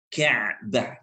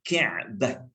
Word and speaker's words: Ka'bah: Jadi kalau kita nak sebut betul-betul pronunciation dia, Ain. Ka'bah, Ka'bah.